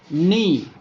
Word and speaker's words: knee: Every word you have seen when K used before N used as a silent letter. Knee, new, knife, night, knit, knickers, not, knowledge, no.